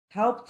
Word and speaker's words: helped: Helped is a verb that in the past, the pronunciation should be helped, because all the verbs that end with P sound when you add ed, the simple past, that ed has to sound like a T.